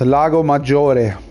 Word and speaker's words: Lago Maggiore: That's the correct way to pronounce it, guys. Lago Maggiore.